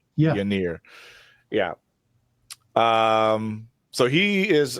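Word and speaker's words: Ynyr: Uh, Winer. What? Yanir. Yanir. Yeah. It's spelled Y N Y R. Yeah. Yir.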